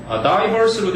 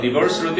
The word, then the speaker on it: diverse: 다양한 문화권들과 diverse라고 읽어요? diverse로도 읽고요, diverse로도 있습니다. 영국식, 미국식 차이예요.